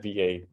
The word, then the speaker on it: hvad: It's just that all of these HV questions, HV, the H is silent, so HVAD just becomes something like a flat VA.